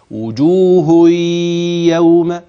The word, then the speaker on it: وجوه يوم: جي بعديها ياء متحركه بنطق ازاي وجوهي وجوه عشان كثير مما اسمعه ينطق ينطق ازاي وجوه لا ده كده مش ادغام الادغام هكذا وجوه يوم وجوه يوم خلاص ادي كده ادي ادغام ومش هقولك ادغام نوعه